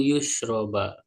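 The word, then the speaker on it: يُشْرَبُ: Jadi awalnya dengan mendomakan yang bertitik dua ya huruf iya yaitu yusroba. Wafatil muahadah dan difatahkan huruf yang bertitik satu yaitu huruf ba ala alfi.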